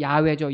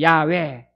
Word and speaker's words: 야훼: 원래 히브리 발음은 야훼죠. 야훼.